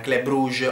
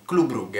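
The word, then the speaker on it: Club Brugge: rughe sfatiamo questo dopo perché si dice così non club bruges o in altri modi globe lug è la pronuncia corretta proprio il in belgio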